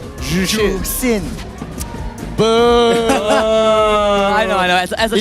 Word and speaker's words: Zhuxin: Okay, how do you pronounce ZHUXIN? Jushin. It's not Jushin. Jusin.